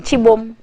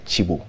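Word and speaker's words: Cibo: chibo say that again chibomb did you say the spelling sounds sibo c-i-b-o but then this is pronounced as chibo chibo that's the chibo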